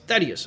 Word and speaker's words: Thaddius: to the next boss yeah how do you pronounce his name is Thaddeus oh yeah that's right you said that in